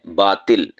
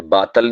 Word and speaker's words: باطل: کے خلاف لڑنا چاہیے۔ باطل نہیں ہوتا، باطل ہوتا ہے، تو آ کے نیچے زیر ہے، عربی زبان کا لفظ ہے، معنی ہوتا ہے جھوٹ، غلط، بیکار، لغو، بیہودہ، ناحق، تو اس کے لیے بولا جاتا ہے باطل۔ اسی طرح ایک لفظ